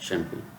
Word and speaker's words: champagne: French भाषा में CH का उच्चारण शा होता है। CHAMPAGNE, जी यहाँ पर साइलेंट है।